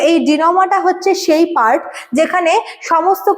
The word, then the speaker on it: denouement: আজকের সেশনটা দেখ ডিনোমা তোমরা কিন্তু স্পেলিংটাচ্ছে ভুল উচ্চারণ করবে না এটা হচ্ছে ডিনোমা ঠিক আছে ডিনোমা ফ্রেঞচ ওয়ার্ড মি নট এটা মানে হচ্ছে মানে কোন একটা ঘটনা বা কোন একটা কিছুর জট খোলা।